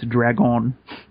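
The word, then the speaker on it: dragón: Apparently, the way to pronounce dragon is dragon. Dragon. Have a little mark over the O.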